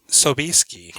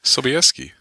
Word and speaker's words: Sobieski: color her arioness Lily Sobieski why you say it like that that's how it's naturally pronounced is it really I have no idea Sobieski uh she plays tosia